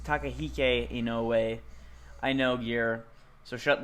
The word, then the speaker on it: Inoue: I He did isn't- mispronounce his name. I'm not a fucking weeb. It's Takahike Inoue.